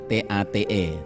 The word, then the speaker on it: Tate: Ya, Andrew, tulisannya Andrew T-A-T-E, Tate bacanya.